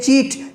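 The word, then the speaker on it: cheat: देख लीजिए चीट, सी एच आया ना, इसको बोलेंगे चीट माने धोखा देना।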